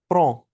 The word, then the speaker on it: prends: Take, pronunciation क्या बताई थी? जे प्रोनो, जे प्रो, Je prends, ज प्रो, ज प्रो, prends, प्रो, ज non, प्रो, c'est je prends, tu